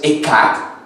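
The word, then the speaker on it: אחד: La palabra uno, utilizada en Deuteronomio 6:4, es la palabra Echad, como lo leí ahora. En el hebreo hay dos palabras para decir uno. Una es Yakit o Yasit, como algunos lo pronuncian, y la otra es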